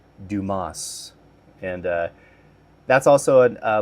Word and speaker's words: Dumas: Dumbass? And then the guy who's he's being interviewed with uh he's like shows his name tag on the desk and he's like it's pronounced Dumas.